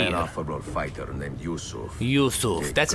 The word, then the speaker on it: Yusuf: Yusuf. That's how you pronounce it.